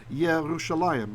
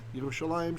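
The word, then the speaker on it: ירושלים: And the usual way we say Jerusalem is Yerushalayim, right? Yerushalayim, Shel Zahav, etc., right?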